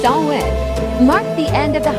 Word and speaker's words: Samhain: The festival of Samhain, pronounced Samhain, marked the end of the harvest and the start of winter.